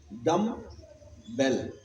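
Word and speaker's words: dumbbell: अच्छा, डंबल की proper pronunciation मालूम क्या है? डम, डम बेल। डम का मतलब क्या होता है? गूंगा। डम बेल, एक ऐसी घंटी जो बजती नहीं।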